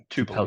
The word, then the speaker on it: Tupelo: When I search for, is it Tupelo? Is that how you pronounce it? Yeah, Tupelo.